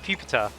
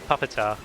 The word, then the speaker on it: Pupitar: what pupitar is, which by the way is pronounced pupar uh not uh puppetar as I've heard some people call recently.